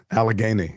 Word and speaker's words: Allegheny: Allegheny, yeah.